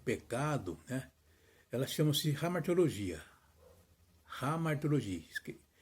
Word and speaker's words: hamartiologia: Primeiramente, a doutrina que estuda o pecado, ela chama-se hamartiologia. Hamartiologia. Na realidade escreve com H, hamartiologia, mas pronuncia-se hamartiologia.